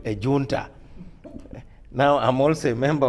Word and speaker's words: junta: The Spanish actually say junta. Oh yes, I think that's the correct pronunciation.